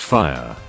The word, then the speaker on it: Fie: Fruitopia baby girl and fie pronounced fire and I couldn't breathe